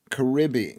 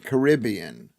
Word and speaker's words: Caribbean: said elite elixir and it was pronounced the way the English people don't pronounce Is it Caribbean? Caribbean. Caribbean or Caribbean.